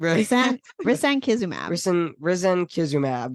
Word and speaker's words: risankizumab: But that's Skyrizi, which is try to pronounce it. Risankizumab. Risankizumab.